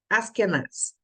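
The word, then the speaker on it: Asquenaz: as que nasce né o nome hebraico se pronuncia assim mesmo as canais e o nome né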